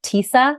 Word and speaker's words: Tisa: when we started but my name is actually pronounced Tisa like Lisa but I but I have to explain that to everyone more than once um 85 to 90 of people pronounce it wrong and then the minute I go it's like Lisa with the teeth they go oh okay